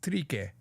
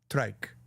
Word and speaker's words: trike: One, in the girl part of the song, she says trique for trike. I don't think that's how they say it. I think they say trike. I just think they say it like it is, not trique.